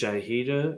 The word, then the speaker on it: Jay Hira: so like i started saying my name is jayhido and i've always considered myself a lifelong learner